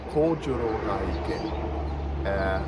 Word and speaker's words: Kojoro Gaike: And the goal for today is the elusive Kojoro Gaike, or how it's actually pronounced, Kojoro Gaike.